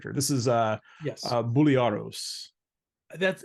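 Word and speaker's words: Briareos: other main character this is uh yes uh buliaros that's it's been like very hours but it's pronounced bulliaris and it has a long Greek sounding last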